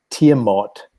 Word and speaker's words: Tiamat: close uh i think i think it's actually pronounced by the by the the ancient babylonian types uh tiamat but hey i don't